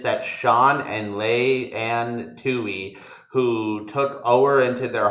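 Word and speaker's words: Tuohy: a movie about him it's spelled t-u-o-h-y-s it's such a name the Tui family Bro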